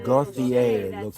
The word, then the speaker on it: Gauthier: it's spelled Gothic. it's Yeah. Gauthier. It That's looks saying like that. Gauthier.